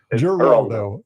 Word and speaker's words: Geraldo: How do you say the G? It's like Jorge Giselle or George. It's Geraldo. Geraldo.